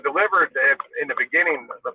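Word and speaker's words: DLIVRD: it's a delivery nav it's called delivered it's it's spelled just like that it's pronounced delivered but it's spelled d-l-i-v-r-d which one I'm picking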